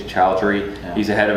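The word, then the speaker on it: Choudhry: But he said, Kareem, I always pronounce his last name wrong. I think it's Chowdhury.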